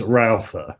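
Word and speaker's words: Rautha: going to we're gonna it's not Roa it's rala you know and I just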